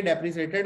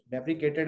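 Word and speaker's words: deprecated: है, ठीक है, ये डेप्रिसिएटेड है, कह रहे हैं डेप्रिसिएटेड या डेप्रिकेटेड जो भी वर्ड है, ये कैसे प्रोनाउंस करते हैं इसको पता है? डेप्रिकेटेड या डेप्रिसिएटेड? डेप्रिकेटेड है, ठीक है, यही वर्ड है।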